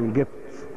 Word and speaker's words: قبط: قبط وإيجبت أصل واحد، قبط وإيجبت، جبت الجبت الجبت، حتى الصعيدة يقولوا الجبت، القاف ينطقوها جيم زي قوي يقول قوي.